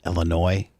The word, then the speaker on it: Illinois: Does she not know that it's a French word and the S is silent and let's pronounced Illinois?